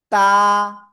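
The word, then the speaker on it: ت: তারপরে শিখেছি এই অক্ষরটা জিব্বার আগা উপরে দুই দাতের গোড়ায় লাগাবেন লাগিয়ে এক আলিফ টেনে পড়তে হবে এক আলিফ তা ক্লিয়ার এরপরে শিখেছি এ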